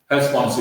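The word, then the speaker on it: Herstmonceux: So if you're pronouncing it sort of correctly, you would say Hurst, Monceau or something like that. The Sussex pronunciation is Hurst Monceau. Okay, that's the way the locals pronounce it. So that's what we use. Hurst Monceau is the way to pronounce it.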